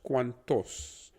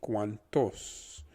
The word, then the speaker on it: cuantos: tos becomes toss like think of the word toast and just remove the t at the very end the only thing is that the t is pronounced a bit softer so it becomes cuantos try one time after